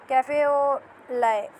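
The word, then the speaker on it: café au lait: कैफे कैफे और ल इसकी जो प्रोनाउंसिएशन है वो कैफे और ले ले है नॉट लाइट स्पॉट यानी इसके अंदर जो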